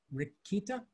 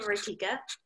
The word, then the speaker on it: Ritika: Rikita? Yeah, I pronounced my name Rikika.